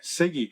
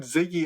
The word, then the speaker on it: Siggy: Siggy. That's you what did I this? said. No, you said Ziggy again. Siggy. Siggy. Siggy.